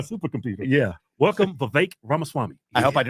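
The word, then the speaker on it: Ramaswamy: a malfunction today first of all am I pronouncing your name correct it's V like cake you got that Y and then Ram Swami I've been practicing your last name all week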